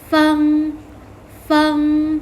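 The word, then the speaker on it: 风: นั่น เอง ค่ะ ลม ภาษา จีน ออก เสียง ว่า fungfung ๆ ฟู ๆ เฟอร์ เสียง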